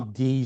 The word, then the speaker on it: id: ID software. It's id software. Oh, is it id? I didn't know how to pronounce id.